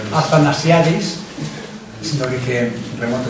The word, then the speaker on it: Athanasiadis: ¿Cómo se pronuncia? Athanasiadis.